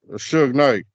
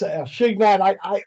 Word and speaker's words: Suge Knight: Suge Knight. I was Shignat.